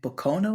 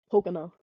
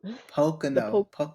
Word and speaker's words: Pocono: you say you're in Pono is that how you say it Pocono Pocono the PO I work at my